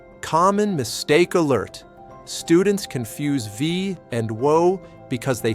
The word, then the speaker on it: Wie: Word number 8, Wie. This means how. Essential question word. How are you? Wie geht's? Wie geht's? V is pronounced like V. The W in German sounds like V in English.